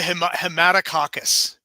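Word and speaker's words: Haematococcus: I say Hematococcus.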